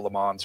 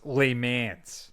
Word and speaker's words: Le Mans: their own game, especially culminating in the 24-hour Le Mans race in France. I think it's pronounced Le Mans.